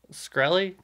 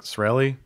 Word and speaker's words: Shkreli: Martin douchebag yeah Martin shkreli skree Lee Felix I think it's I think the case silent so it's like this rally Martin shkreli I always